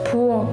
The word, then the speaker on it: 부엌: They are all pronounced as a K sound when they are used as final consonant. For example, 약, 책, 부엌, 박, 니은, N sound, 한국, 잔, 디귿, 시읒, 지읒, 치읒, 티읒, 히읗, 쌍시읒.